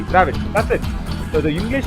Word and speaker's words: Dravid: You know, whatever we pronounce, we write. You see, in Kannada, in Tamil, whatever we say, if it is Dravid, it is Dravid. Okay, we say it as Dravid, and we write also D-R-A-V-I-D, Dravid.